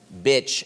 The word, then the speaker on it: bitch: When you walk around, I have no one thing that people yell at me, but you must have fans yelling bitch at you.